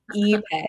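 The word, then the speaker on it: ipe: Eay. Even though it starts with an I. You say it like a long e.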